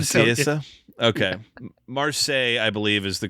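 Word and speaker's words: Marseillaise: It's Marseille is the name of the song. It's the French song, Marseille. I read it phonetically, and I don't want to seem like an uncultured swine, so...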